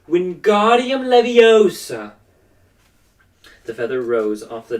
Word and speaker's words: Wingardium Leviosa: arms like a windmill you're saying it wrong Harry heard her - now it's Wingardium Leviosa make the god nice and long you do you do